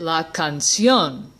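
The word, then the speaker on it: canción: I just pronounce it la cancion what that means is we need to make this word into an ague that word in other words we need to put the emphasis on the last syllable and the way we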